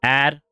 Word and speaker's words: Adonai: It's pronounced Adonai.